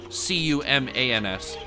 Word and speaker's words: Cumans: So now the Cumans, and that's C-U-M-A-N-S, not humans. Cumans. I think that's how you pronounce it. Kind of like the herb cumin or whatnot.